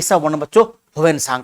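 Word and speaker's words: Hiuen Tsang: Actually ये ना हुएन सांग, सांग को टी से लिखते हैं, SANG। ये सांग लिखा हुआ है, टी साइलेंट होता है।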